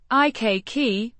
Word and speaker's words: ikke: I means not pronounced. I k with a short e sound.